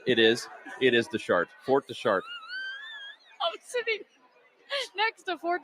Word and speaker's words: Fort de Chartres: Fort Deschartres.